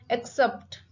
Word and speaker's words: accept: Accept. Accept. The stress is on sept, second word, second syllable, sept.